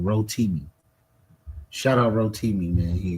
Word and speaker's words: Rotimi: And I think you was Hotimi. I was Hotimi, yes. I was the Hotimi, yes, sir. And I think I pronounced his name wrong. Rotimi.